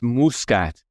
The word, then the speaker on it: Muscat: used to being the north americ pronunciation of my surname Muscat here in Malta it's Muscat mkat and it for all my life I always tell people it's muskat and now it's like no it's muskat I love it I